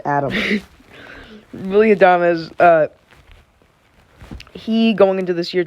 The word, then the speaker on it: Adames: Willie Adama, just going into this year, really had no talk Can on I him. point out, why is his name not pronounced Adam? Willie Adames, he, going into this year, did not have